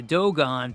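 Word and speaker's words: Dogon: The Doon people, it's spelled like dog on like D O G O N.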